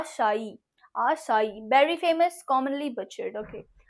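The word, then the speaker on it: açaí: this okay what is this आशा आ शाई आसाई very famous commonly बच्चे okay आसाई shark tree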